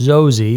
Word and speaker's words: Xoxe: but it could be or is it xoxy pronounced zosi is an ultra realistic